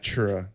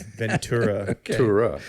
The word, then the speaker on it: Ventura: Ventura San ventur Sam wi Ventura no not chura okay like a churo it's Ventura right I just want to make sure we got that right because absolutely there are people from Ventura who say vura that well they look get